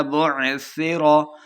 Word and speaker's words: بعثر: سے پڑھنا ہے۔ اذا بعثر، بعثر سا پہ سختی نہیں کرنی۔ ما فی القبور، قاف